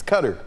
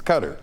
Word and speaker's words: Qatar: My issue is u you know the media just can't pronounceq cutter orqatar. What is it? That's true. It's cutter. It's cutter.